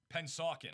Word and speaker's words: Pennsauken: But Camden and is it pronounced Pennsauken? Pennsauken.